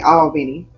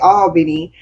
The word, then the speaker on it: Albany: We say all like A-L-L. we say A-W. It's like an all. Oh, yeah, Albany.